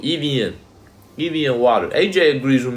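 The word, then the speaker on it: Evian: to pronounce it right it's called Ean not Evan okay the American way of pronouncing it is Ean y'all out of pocket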